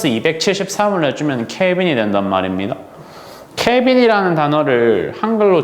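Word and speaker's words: Kelvin: 용도로 사용하는 좋은 단위가 대문자 K로 표현이 가능한 읽을 때 케빈이라고 읽으면 되는 단위가 있거든요.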